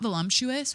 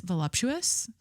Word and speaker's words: voluptuous: pronouncing this correctly volumptuous it's not volumptuous with an M it's voluptuous vump voluptuous and fleshy even when